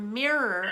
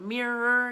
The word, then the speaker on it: mirror: With the word mirror, also, you want to exert that extra sound at the end of it.